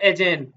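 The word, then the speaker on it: Aegean: रहा है इसका इसका नाम है सी ऑफ एजन एजन की स्पेलिंग क्या होती है ए ई जी ई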